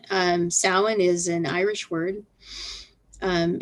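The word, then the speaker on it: Samhain: ready to um celebrate sin um sin is an Irish word um it's spelled s m h a i n don't ever try to pronounce Irish the way it's spelled Irish gay is really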